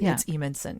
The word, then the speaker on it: Evenson: It's spelled strangely, but it's Evenson.